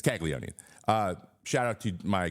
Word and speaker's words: Caglianone: g l i a n o n e kagoni it's kagoni uh shout out to my co-host on Sunday